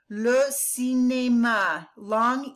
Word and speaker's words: cinéma: Le cinéma, long E and then an A.